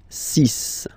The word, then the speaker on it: six: And be careful here, because even if it's ending with this x, well, you'll have to pronounce it like s, s, okay? So you get the six pronunciation. Six, six. Okay, so it's not six, it's six, all right?